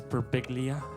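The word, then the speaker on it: Birbiglia: It's Perplia. Everyone gets it wrong.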